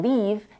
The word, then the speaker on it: leave: the last I and leave is pronounced with a tense e another example of a